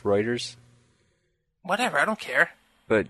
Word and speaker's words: Reuters: Not to be an ass, but it's pronounced Reuters.